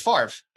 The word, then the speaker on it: Favre: up it's brett favre favre favre what the hell's brett favre doing here what's in his name it's farv the v in the r it's like the weird invert it should have been